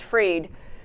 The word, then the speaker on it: Fried: A woman ag commissioner in Florida named Fried, or Freed, F-R-I-E-D, is probably pronounced Freed.